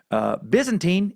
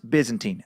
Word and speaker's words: Byzantine: Byzantine is pronounced Byzantine, not Byzantine.